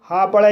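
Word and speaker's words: hope: एच को हा पढ़ा जाएगा, ओ को ओ पढ़ा जाएगा और पी को पा पढ़ा जाएगा और ई साइलेंट रहेगा। इस तरह से इसे होप पढ़ा जाएगा और होप मीन्स उम्मीद।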